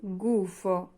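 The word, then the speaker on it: gufo: সহজ হবে তারপর আছে গুফ গুফ গুফ মানে হচ্ছে প্যাচা। জি এর পরে উ আছে। উচ্চারণ হবে গ এর মত।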